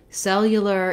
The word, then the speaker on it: cellular: this gliding yeah sound cellular is also difficult because it has l's and r's in the same word which can be challenging